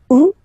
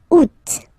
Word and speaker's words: août: And then here, two options, because, two options are acceptable in French. The first one, you don't pronounce the final T. Ou. Second one, you pronounce it août.